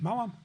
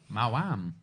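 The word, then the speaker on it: Maoam: Oh yeah, Mawam even. How would you say that? Do you say Mom or Mound? Mawam. Mawam. That's how they're pronounced.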